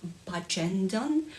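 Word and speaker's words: Bagendon: name of it and it turns out it's bajendon which feels completely wrong because when you look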